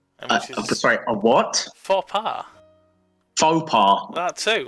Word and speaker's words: faux pas: Faux pas. That too. It's faux. Faux. Faux pas. That sounds Londonish now. That's funny, isn't it? No, that's just the correct pronunciation.